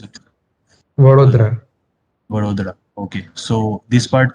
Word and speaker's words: Vadodara: So uh, this Varoda or Vadodara, how do you pronounce it? Uh, Vadodara.